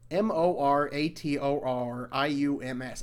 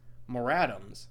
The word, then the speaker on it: moratoriums: you say that word m-o-r-a-t-o-r-i-u-m-s i always thought it was more atoms eviction more atoms but there was like more to the word moratoriums moratoriums extend foreclosure and